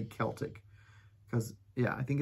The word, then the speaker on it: Celtic: i c right but when it's spelled that way and it's the basketball game or the boxing game whoever those Sports people are it's called Celtics everybody else calls it Kel okay I remember that